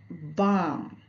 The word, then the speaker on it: balm: जैसे बाम, BALM, बाम में L silent है क्योंकि ए के बाद एल है, इसीलिए यहाँ पे एल साइलेंट है।